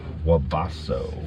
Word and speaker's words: Webasto: Webasto.